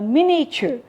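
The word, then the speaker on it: miniature: उसे क्रीमी होता है मिनिएचर तो मिनिएचर में आई साइलेंट है मिनिएचर मतलब बहुत छोटा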